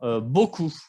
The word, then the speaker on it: beaucoup: Y finalmente, beaucoup. Esa palabra parece sencilla, pero a veces escucho los alumnos que pronuncian la P, pero la P no se pronuncia.